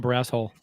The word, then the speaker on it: Barrasso: You pronounced it wrong. I guess what? You pronounced his name wrong. It's Tom Barrasso.